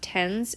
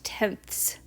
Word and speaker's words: tenths: the end of it so it's not tens it's tenths so that's not just me having a lisp that's how you pronounce it so if you're going